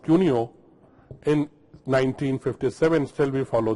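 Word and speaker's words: Couinaud: classification was given by coard that's pronounced cuno in 1957 still we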